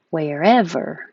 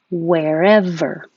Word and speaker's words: wherever: daily disabled alien wherever wherever remember if you have a vw difficulty make sure you round your lips a lot at the beginning so that you can't make a v wherever miserably is the long